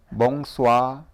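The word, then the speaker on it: bonsoir: 하고 저녁에 하는 인사는 몽수와 몽수와 쏘아 쏘아 멍소아름은 아주 약하게 하거나 아니면 차라리 안 하셔도 괜찮아요 몽수와 오히려 그게 더 자연스러워요 일부러 발음하시려고 하는 것보다도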